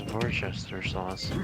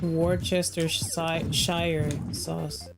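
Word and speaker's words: Worcestershire: that difficult to pronounce no way that is spelled it's Vester sauce it looks like Worchester Shire sauuce first sauce yeah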